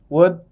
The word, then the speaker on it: would: sebentar poin yang pertama kata-kata seperti could would itu shouldeh should ya kan nah Kebanyakan kalau orang Indonesia bacanya cult ya kan W sama SH Yang bener gimana tuanya biasanya l-nya itu tidak dibacaah iya jadi diskip tuh